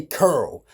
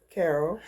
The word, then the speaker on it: Carol: Now, I told y'all in my other video, I pronounce her name curl. Her real name is Carol, but I say curl. How do you say your name, Ma? Carol.